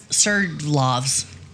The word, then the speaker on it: Sverdlovsk: Sverdlovsk.